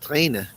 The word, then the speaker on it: Tränen: Well, it's pronounced Tränen in German cuz it has an umlaut.